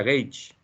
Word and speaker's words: gauge: se le llama gaula se escribe gauge se pronuncia gates si quieren investigar la